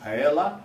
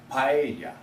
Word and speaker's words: paella: Number one is not pronounced paella, it's pronounced paella.